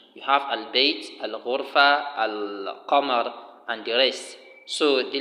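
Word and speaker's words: القمر: The lam of al-qamar is pronounced and is clear, while the lam of ash-shams is not pronounced and is not shown, except that the letter after the lam is what is doubled.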